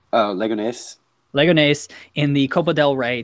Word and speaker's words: Leganés: How do you pronounce it? Leganes? Leganes. Leganés in the Copa del Rey to knock Real Madrid out of the Copa del Rey.